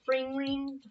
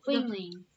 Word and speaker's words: Fling Ring: The fring ring? The fling ring. Fring ring? How do you say it? It's a Colorado boomerang. Fling. Like you fling. You fling it.